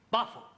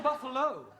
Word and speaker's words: buffalo: a big bull a buffalo ter confused yeah words that end in know like Buffalo or radio or vertigo you pronounce the O but when there is no o you don't add one understand yes sir I give